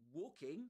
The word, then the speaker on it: walking: walking that L h the L in walking name is not pronounced in is ne neither pronounced in yeah in American English right nor in um British English so it's not pronounced we don't say in